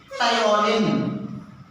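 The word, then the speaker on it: ptyalin: That is thioline. Thioline. Amylase or thioline. The B is a silent letter. Thioline. P-T-Y-A-L-I-N. Thioline.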